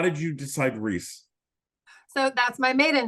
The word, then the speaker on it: Rhys: your name I love the name Reese and he's like only if we can spell it RH Ys and so that's so